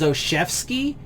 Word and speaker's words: Olszewski: Gunnar, by the way I hear this dude's name pronounced every time is Oshevsky. So this weird little fucking jumble of letters somehow is Olszewski, makes it Olszewski, but it's like if I was trying to pronounce this just based off of like pronunciation of the letters, it'd be like Olszewski or something like that, right?